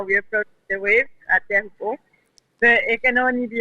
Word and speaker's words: Teahupo'o: Yeah, well, I'm sorry for this word because everybody pronounces so so badly, and then when they pronounce chopu, it means a soup in Tahitian.